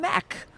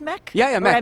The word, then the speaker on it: MEC: our browser button and they were adding from Mac why well next doesn't have a gift registry yes it's pronounced MEC yeah oh right equipment call correct correct so